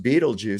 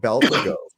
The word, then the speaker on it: Beetlejuice: Asimov and stuff, and I mispronounced Beetlejuice because of the way it was spelled. I had only read it, and I thought it was called Beltlegos. Because it's the way it looks, Beltlegos.